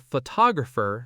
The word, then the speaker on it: photographer: Photograph stresses the first syllable photograph but photographer stresses the second photographer and photographic stresses the third photographic.